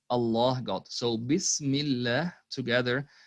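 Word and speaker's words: بسم الله: see in this part when the word allah is preceded by a kasra it's not pronounced as allah which is the default way of pronouncing it it's pronounced as so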